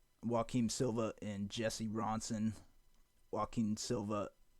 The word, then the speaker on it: Joaquim: Joaquim Silva, I think it's Joaquim, is how you pronounce his first name, Joaquim.